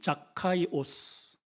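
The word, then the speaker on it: Ζακχαῖος: 원래의 발음이 자카이오스라는 이름이에요.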